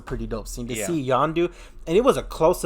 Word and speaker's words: Yondu: like inside his head, Yondu, Andanda. I mispronounced his name. For a cameo though. Yeah, so we see Michael Rooker return as Yondu, standing across from Kraglin, telling him, "I believe in you.